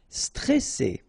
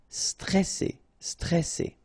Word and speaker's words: stressé: Stressé. Okay, remember you get double S here, so you pronounce it really strong while it's between two vowels. So C, alright, and then here you get this E before the double S, so it will open the pronunciation of the E. Stressé, stressé.